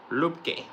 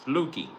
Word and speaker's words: Luepke: Luepke. They're going to say the P is silent. It's Luepke.